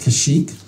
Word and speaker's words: Kashyyyk: some things here we all know okay it's pronounced kashyyyk and coruscant hopefully it's spelled that way too